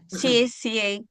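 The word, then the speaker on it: 谢谢: X dibaca S. S ya. Sie sie. Betul. Sie sie. Nada empat menghentak sie.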